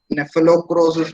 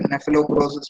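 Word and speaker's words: Cnaphalocrocis: The leaf folder, the scientific name is Nephelocrosis medinalis. Leaf folder, Nephelocrosis medinalis. C is silent over here. Nephelocrosis medinalis.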